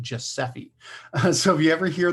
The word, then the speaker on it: GSEFE: So GSEFE, they've been pronouncing it Giuseppe.